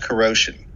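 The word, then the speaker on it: kuro5hin: for a website called corrosion spelled k-u-r-o digit 5 h-i-n meant to be pronounced like the word corrosion because the site's founder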